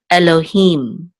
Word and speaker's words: Elohim: this will be him, Elohim. And the accent is on the last syllable, Elohim. Okay, and this is, of course, the Hebrew word for God, or the Almighty.